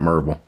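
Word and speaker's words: Maryville: I lived in uh Merville, Mville is how it's spelled, but over there we call it Mville, Tennessee.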